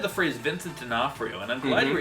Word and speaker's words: D'Onofrio: Okay, but you just said the phrase Vincent D'Onofrio, and I'm glad you were able to pronounce it correctly, because our next category is actually Best Mispronunciation.